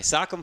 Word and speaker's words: Socom: week is Socom 4 which is pronounced Sak sockum Sorry sakm 4 which we just